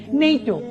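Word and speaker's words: NATO: সঠিক আর এখান থেকে মনে রাখবো যেমন পড়ছি নেইট আমি কিন্তু পড়ছি না এন এ ই ও এরকম কিন্তু পড়ছি না আমি একটি শব্দের মত পড়ছি নেইটো পড়ছি ইউনিসেফ ইউনেসকো পড়ছি স্যার আমি কিন্তু পড়ছি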